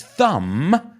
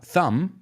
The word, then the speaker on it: thumb: So he pinches it between his thumb, la B muda, thumb, pulgar, and forefinger.